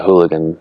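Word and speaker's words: eulachon: It's called the hooligan run. Hooligan is actually spelled like uleshon.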